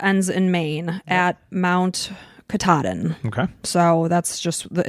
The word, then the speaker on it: Katahdin: It goes from Springer Mountain in Georgia to Mount Katahdin. Oh, I would have totally destroyed that word had I not looked up the pronunciation. I would have said Katahdin and then anyone up in the Maine area